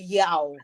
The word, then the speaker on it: Yaw: That is spelled YAA, and then wow, the boy will be Yao. That one is spelled YAW.